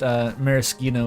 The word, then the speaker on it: maraschino: But as far as I know, it is just maraschino is the authentic pronunciation.